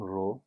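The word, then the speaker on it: rho: এটার উচ্চারণ রো, আর এইচও না আরও এইচ, ভুলে গেছি, বাট সামথিং।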